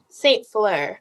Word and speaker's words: Saint-Fleur: Saint-Fleur.